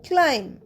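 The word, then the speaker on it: climb: আগের ভিডিওতে আমরা শিখেছিলাম সাইলেন্ট বি আফটার এম যেমন সি এল আই এম বি উচ্চারণ হয় ক্লাইম বি শব্দটা কিন্তু উচ্চারণ হচ্ছে না যদি ভিডিওটা না দেখে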